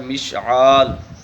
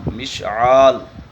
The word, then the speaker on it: مشعال: معنی بتاؤں گا۔ مشعال نام کا صحیح تلفظ جو ہے وہ ہے مشعال، میم کے نیچے زیر کے ساتھ شین کے اوپر جزم، آگے عین الف اور آخر میں لام، مشعال۔ تو مشعل اور مشعال